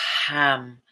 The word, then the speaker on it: Ham: The sound here is ham. Make sure to pronounce the H sound.